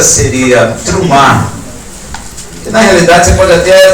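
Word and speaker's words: T'rumá: mas a pronúncia seria trum na realidade você pode até Traduzir por presente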